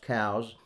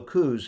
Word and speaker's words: Coues: quartermaster elliot cows yes it's properly pronounced cows as lieutenant cows pronounce his name although cooze has become the most